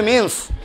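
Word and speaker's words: mesne: মিসনে miss নি profit কিন্তু উচ্চারণ হবে মিনস বানানো হবে মিস নি এম ই এস এন E miss নি মিস নি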